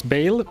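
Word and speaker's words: Baal: If you don't like the way I pronounce Bale, take it up with Decard Kane and every other NPC in this game and the real because everyone who has a voice line about Bale pronounces it like that.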